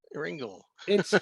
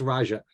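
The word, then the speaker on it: Rajah: oh Roger I guess Ringle well you got it pronounce right it's Raja whatever it's r-a-j-a-h all right I guess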